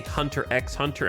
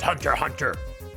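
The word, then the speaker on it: Hunter × Hunter: The X is silent. I learned that from anime cuz I would always say Hunter X hunter and people be like, "It's just Hunter Hunter."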